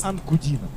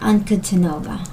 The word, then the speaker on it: Ankudinova: Ankudinova. Diana Ankudinova. Oh, that's how to pronounce her name.